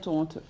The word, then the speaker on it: Toronto: il fallait pas dire Toronto il fallait dire Toronto mais ça vient voilà ça vient quand même